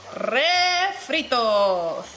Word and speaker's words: refritos: Refritos. Refritos. Say it with us, amigos. Refritos. Well, you don't have to roll the R if you don't want to, but it's a good time to Let me practice.